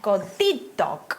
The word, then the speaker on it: godidog: It's always going to be on the last syllable but one. So pleserus, iawn? Godidog, iawn?